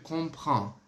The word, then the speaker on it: comprends: Lembre-se, o R ele é bem rasgado, sempre muito rasgado no francês. Então, você tem que colocar assim, ó. Comprends. Se você tiver dificuldade de pronunciar esse prend, fale assim, ó. Je comprends. Ele já vai conseguir te